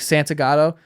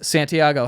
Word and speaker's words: Santagato: what's your last name I'm like Santa gato and he goes Santiago how do you spell